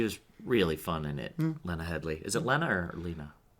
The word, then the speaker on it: Lena Headey: The one with the singer guy, Carl, the non-singer guy, and Lena Headey. Is it? I don't know how to say her name either. What is it? Headey? Yes, Lena Headey.